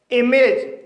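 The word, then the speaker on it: image: ए जी ई आया है इसलिए ए का उच्चारण होगा इसलिए इसे स्टेज पढ़ा जाएगा इमेज यह एक मल्टीपल सिलेबल वर्ड है क्योंकि इसमें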